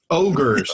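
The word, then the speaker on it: Ogor: Ogres. Oh yeah, what you said. I feel like I can help with the Ogre situation here. Hodor. Yeah. It rhymes Ogre. It rhymes with Hodor.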